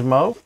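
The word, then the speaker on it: Meaux: Apparently, you must pronounce it Mo. Yeah. It must be French. It ends with an X. Yeah. Or it could be M-E-A-U-X.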